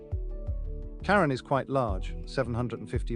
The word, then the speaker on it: Charon: fman of the Dead which is why we pronounce the name Sharon not Karen Karen is quite large 750